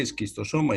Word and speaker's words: Schistosoma: En realidad se lee esquistosoma y se escribe schistosoma, ¿no?